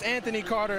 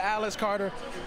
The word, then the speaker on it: Anthony Carter: I got his name wrong the first time I was on TNT, but it's Anthony Carter instead of Alice Carter.